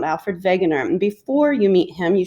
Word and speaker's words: Alfred Wegener: scientist his name is alfred wegener even though it's a w you pronounce it with a v sound alfred wegener before you meet him